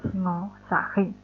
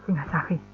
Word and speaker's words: Singasari: Ya, Singosari ini saya lebih suka menyebutnya sebagai kerajaan Singasari. Ya, karena nama lamanya kalau dalam prasasti itu disebutkan namanya pakai ejaan Singasari. Nah, tapi kalau kita sebagai orang Jawa itu mesti kan pakai O ya. Jadi lebih mudahnya ngomongnya kerajaan Singosari.